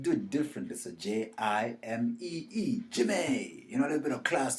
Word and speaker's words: Jimee: So Jimee, Jimmy.